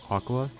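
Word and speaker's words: Aqours: called aqu Wars aows it's officially pronounced as Aqua with no particular reason behind it I guess it's just like that because they said so chica also starts her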